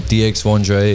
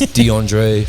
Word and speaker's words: Dxvndre: Again, it is not Dxvndre. It is Dxvndre, pronounced like my government.